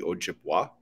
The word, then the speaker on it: Ojibwa: in American English, where that A sound, in some cases, would be Ojibwa, and then in other cases would be Ojibwe.